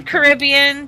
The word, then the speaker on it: Caribbean: These are the pirates of the Caribbean. What is this Or the Caribbean, depending on how you say it. I've heard it both ways.